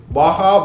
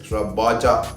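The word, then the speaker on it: Baja: ஏன்னா இது வந்து சேம் TCXலேயே பாகா பூட்ஸ்ன்னு ஒன்று இருக்குது. பாஜா, BHAA, பட் பாகான்னு தான் ப்ரொனவுன்ஸ் பண்ணுவாங்க.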